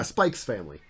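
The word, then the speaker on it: Spy×Family: Yeah, Spike's family. The X is part of the name. You have to pronounce it.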